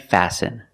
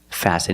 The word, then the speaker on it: fasten: listen it's listen and fasten example fasten your seat belt fasten is a verb and the t is silent you need to fasten